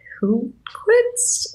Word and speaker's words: Hultquist: music composer team, Drum and Lace and Ian Hultquist. Wait, help me. How do I pronounce his second name?